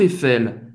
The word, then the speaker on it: Eiffel: Você vai pronunciar o L. Où se trouve la Tour Eiffel, s'il vous plaît?